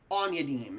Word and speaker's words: Aunyadin: Audim or um Audie Aunyadin. Aunyadin is how you pronounce that last name.